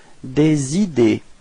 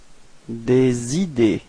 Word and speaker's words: des idées: Des idées. Repeat. Des idées. Okay, so final E and final S are not pronounced as well.